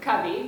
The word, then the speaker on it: Covey: get is first of all how do you pronounce cubby so cubby but people also always ask what does cubby